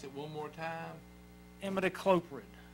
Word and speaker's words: Imidacloprid: Would pronounce it one more time? Imidacloprid. Imidacloprid.